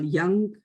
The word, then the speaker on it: Jung: The person who did quite a lot of work on the trickster is somebody called Carl Jung. It's the German sort of pronunciation.